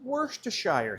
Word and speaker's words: Worcestershire: Now I'm going to add some Worcestershire sauce.